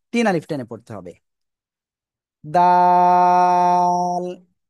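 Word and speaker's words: دال: দাল দাল সবাই একসাথে জোরে জোরে বলেন।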